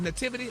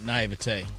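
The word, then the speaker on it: naïveté: of her youth and naivety. How you say it? Nativity or naivety? Naivete. Naivete. All right for naivete.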